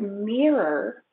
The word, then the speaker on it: mirror: The word mirror, mirror, two syllables, has a long E sound, mirror, mirror, mirror.